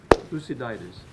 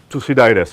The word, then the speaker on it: Thucydides: I don't know how you pronounce it in English, really. Thucydide in French. Well, okay, it's all right. Thucydides. Thucydides. Okay, let's do it like the Greek.